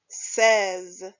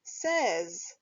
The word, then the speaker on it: says: reading the word says pronounce the letters a and y as e and the final s in the word as this word is says say says when writing the word